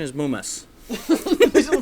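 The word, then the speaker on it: ムウマ: Yeah, it's Muma. So all right. So the official pronunciation is Mumas.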